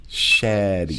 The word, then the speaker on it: Shetty: That's one of those names where you make sure you pronounce the E. Shetty. Shady.